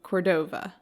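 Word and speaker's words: Córdova: great ishmael cruz cordov cordova but there's an accent on the first o cordo cordova court could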